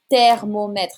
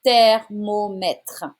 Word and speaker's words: thermomètre: Un thermomètre. It's not the sound in here. Un T sound. Un thermomètre.